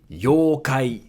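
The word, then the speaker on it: 妖怪: Yokai. Yokai. So here again, you makes it a long yo. Yokai. Yokai means yokai.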